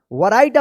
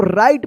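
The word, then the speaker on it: write: वैरायटी आप पढ़ते होंगे ना गलत ये इसको राइट पढ़ेंगे।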